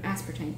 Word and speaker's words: aspartame: Aspartame, thank you.